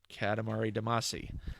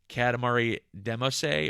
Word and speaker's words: Katamari Damacy: Katamari Damacy uh-huh and they pronounced it Katamari Damacy mm-hmm a lot of people will swear that it's like Katamari demo say or something like that and